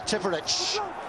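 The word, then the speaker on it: Tipuric: Tipperich. Apparently that's the correct pronunciation.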